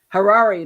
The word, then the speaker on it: Harari: Harari Hari that's it he he was Harari like the Ferrari only within age that's